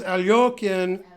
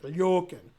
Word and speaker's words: Alekhine: So there's Alyokin and yeah. Now the Russians like to say the yo sound, Alyokin, right? And Svidler said, when you're Russian, that's the way you would pronounce it, but says Alekhine didn't like that pronunciation. He said, no, I don't like that. This is how you pronounce it. He said, I should pronounce the guy's name the way he wants me to pronounce it.